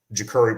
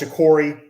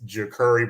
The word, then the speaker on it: Jacurri: this guy right here jacuri brown not your corey not jakari jakuri i feel like i have to say that because it's a lot of people mispronounce his name it's jacurrie brown um and probably he's